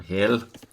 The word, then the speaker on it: Hel: it didn't end well for hell for Hill as is actually the Norse pronunciation of it hey lame is an